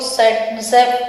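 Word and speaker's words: Saytzeff: जेड से formula सेटजेफ भी इसको बोलते हैं, साइंटिस्ट को सेटजेफ उसका प्रोनाउंसिएशन भी है।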